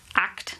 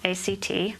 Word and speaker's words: ACT: So acceptance and commitment therapy, pronounced ACT, not ACT.